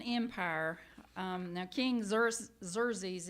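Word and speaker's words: Xerxes: Um, now King Zer Zerz, it's it's spelled ex or Exxius, but it's um pronounced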